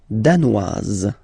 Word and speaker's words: danoise: Le Danemark, danois, danoise. Zzz, okay, insist on that. Danois, don't pronounce the final S. Danoise, here you pronounce it.